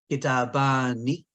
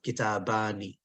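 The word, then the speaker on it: كتابان: Hadhani kitabani. If I stop, I don't have to pronounce the kasra, so I can say kitaban, but if I don't stop, I pronounce the kasra, kitabani.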